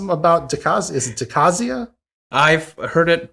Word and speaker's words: Decasia: the cause is it decazia i've heard it pronounced both ways i say decaysia decays because it deals with decay okay and so so